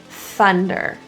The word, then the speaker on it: thunder: For thunder, again, we have another TH. Let's practice airflow coming out. So our tongue is out, we're blowing thunder.